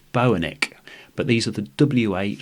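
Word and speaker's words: Boenicke: never heard of before I think it's pronounced Bo an ik but these are the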